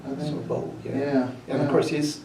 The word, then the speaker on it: Sorbo: Kevin soru how do you say his name Sorbo Sorbo yeah and of course he's he's doing a